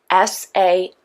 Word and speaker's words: Samhain: And Samhain is spelled S-A-M-H-A-I-N, but it's pronounced Samhain, okay?